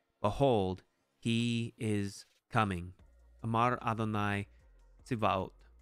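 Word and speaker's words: אדון: This is not to be confused with Adonai, the pronunciation of the tetragrammaton, Yahweh. No, this is actually Adon.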